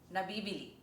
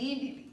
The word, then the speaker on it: nabíbili: But the stress is different. Let’s take a look. Can be bought (nabíbili) Sell well (nábibili) Do you see? One is nabíbili; one is nábibili. That’s the difference.